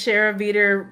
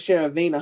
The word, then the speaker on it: Sharavina: I need Miss Shara Veter. I mean, how do you say her name again? Her name is Sharavina. Her nickname is Vina. I call her Vina.